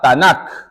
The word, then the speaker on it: Tanakh: Entonces, nos quedamos con la T, la N y la K, y esto se pronuncia la Tanakh.